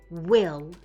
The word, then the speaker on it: will: Whenever you see two letters that are the same, they're making one sound. These two L's are making one sound that says L. So when we read this word, we say will. We don't say will. You only say one L sound.